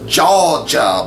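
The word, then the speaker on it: JAWGA: awga boys that's pronounced jaw jaw boys uh reinforces negative stereotypes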